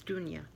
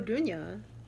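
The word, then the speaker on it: Dunja: I think it's Dunya.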